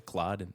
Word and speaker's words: Claude: One other bit of feedback that wasn't about the pronunciation of the app called Clo in Canada, Claude in America.